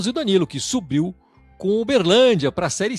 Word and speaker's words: Uberlândia: A pronúncia correta é Uberlândia. É assim que fala Uberlândia, né?